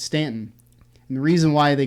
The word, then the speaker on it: Staunton: down right below harrisonburg and there's a town that's spelled s-t-a-u-n-t-o-n staunton it's stanton and the reason why they called stanton it